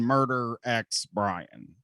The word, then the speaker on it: Murder X Brian: Honestly, better than probably better than Murder X Brian, which is a name that like I just kind of got forced into at that point. The X is silent.